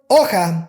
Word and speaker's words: hoja: The word hoja starts with H, but the H is silent, so we have to use U.